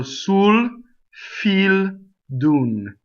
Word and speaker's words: Sul fil d'un: words are not that difficult right all one syllable ooh those who I as always e so soon feel dune next word so feel so too close though